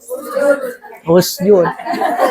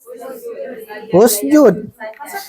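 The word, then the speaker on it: اُسْجُدْ: 3 kemungkinan baca dulu. Kemungkinan pertama, kemungkinan kedua, kemungkinan ketiga. Yang tepat yang mana? Usjud. Bukan enakan, Bu. Hah? Sebenarnya bukan enakan. Sering dengar. Jadi bacanya apa? Usjud.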